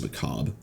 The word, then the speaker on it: macabre: So if I cast 2 mobility or macabre skills, it's just macabre, and the RE is silent, that I restore 70 primary resource.